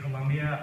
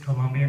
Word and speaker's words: Colombia: And when I say Colombia, I mean it's Colombia, not Colombia. The country of Colombia, once again, is spelled with an O, not a U, not to be confused.